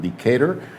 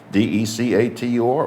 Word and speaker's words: Decatur: I think that's the way you should pronounce it, Decatur, D-E-C-A-T-U-R, or Decatur.